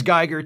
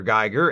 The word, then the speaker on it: Giger: His name is Geiger, too. Really? Yes. It's spelled differently, but pronounced the same, so the difference will be imperceptible to those watching the show. How enchanting. They meet with Dr. Geiger, and, like the other Dr.